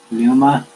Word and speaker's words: Pneuma: Pneuma. It's like one of those things where the letter P is the first letter in the word, like pneumonia.